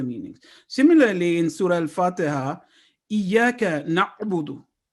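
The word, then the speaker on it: إِيَّاكَ نَعْبُدُ: Similarly, in Surah Al-Fatiha, Iyaka na'budu. If we say Iyaka na'budu, we are not pronouncing ayn as its due right.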